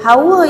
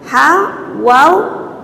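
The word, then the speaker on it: حواء: isteri Nabi Adam tu ejaan dia ha ha pedas ha tu bukan Ha bulat tadi ha ha Jim Ha Tu kan ha tu Ha wau Alif hamzah Jadi bacaan sebenarnya Hawa dia bukan Hawa dia hawa hawa dengan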